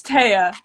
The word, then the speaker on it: Taya: Maybe it's or Taya. We'll see how she pronounces it. Hi. Hey! Is it Taya or? Yeah, it's Taya. I got it right the first time.